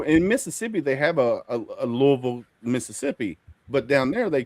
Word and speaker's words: Louisville: It should be Louisville because it's named after King Louis.